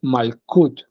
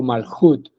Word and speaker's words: Malchut: referencia al cuerpo físico se escribe en español malchut pero la pronunciación correcta es malut no o maljut malut esa sería como